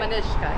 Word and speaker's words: Manushka: Manushka.